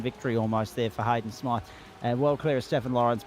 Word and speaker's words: Smythe: The qualifying session was topped by Hayden Smythe, or Smith, depending upon what the pronunciation is there. I know people with the Y spelling that say it both ways.